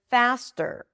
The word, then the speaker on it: faster: Let's take the word faster. Faster. Here it's a true t. Okay. It's a regular t because it appears after an s unlike the word butter. That is a flap T because here the T is between two vowels.